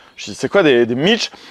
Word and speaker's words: Mici: monde d'accord avec des Mitch. Je dis, c'est quoi des Mitch? Alors, ça s'écrit M-I-C-I, mais le I se dit pas à la fin.